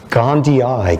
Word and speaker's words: gondii: called toxoplasma gandhi and not gandhi in the gandhian sense but probably because it's even pronounced differently okay how are you pronouncing it these days gandhi eye gandhiai because there's two eyes at the end which the old mahatma never quite came up with but this